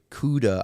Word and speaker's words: Cuda: did ask him and he said it's uh pronounced like the uh last uh initial of barracuda uh so jay cuda on twitter c-u-d-a uh you could follow him